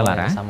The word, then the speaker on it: lara: Contohnya adalah kata lara yang berarti sakit dalam bahasa Jawa. Kata ini diucapkan sebagai loro pada posisi terbuka. Tetapi jika diikuti sebuah sufiks, misalnya ne, maka diucapkan sebagai larane. Sama-sama. Begitu pula jika kata ini menjadi sebuah kata turunan, maka akan diucapkan sebagai kelaran, tidak ada vokal o. Kelaran.